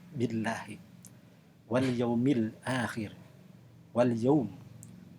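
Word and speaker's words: بالله: Tu'minuna billahi, maka lamnya itu dibacanya adalah tarkik, yaitu tipis, billahi.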